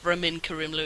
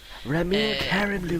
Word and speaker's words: Ramin Karimloo: I just pronounce it the way he himself pronounces it. No, you don't. Yes, I do. But that's because he pronounces it in a like... I guess he pronounces it in the proper Iranian way, but whatever.